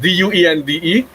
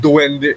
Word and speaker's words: duende: We wouldn't write it the same way, but it's pronounced D-U-E-N-D-E. It's pronounced duende, el duende in Spanish, right?